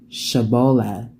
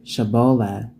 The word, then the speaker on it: Shibboleth: They said to him, "They say Shibboleth." And he said, "Sibboleth." For he could not pronounce it right.